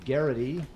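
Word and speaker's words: Geraghty: This is about a guy played by Brian Garrity. That's how you pronounce it.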